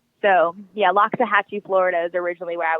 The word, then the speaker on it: Loxahatchee: but it's not it's actually pronounced called uh pronounced Loxahatchee so yea Loxahatchee Florida is originally where I was from and